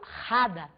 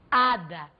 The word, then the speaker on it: hada: E o H em espanhol é mudo. Ele não é em momento algum velar, não. Eu não falo rada, eu falo ada.